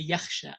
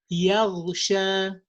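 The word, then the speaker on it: يغشى: They would say in their dialect like that, and they think that it's also kha in the Quran. It's not kha. There is no yakhsha. Sorry, there is yakhsha. Yeah, I was gonna say yakhsha. Yeah, yakhsha. It's another word. It has another meaning. So yaghsha, yaghsha.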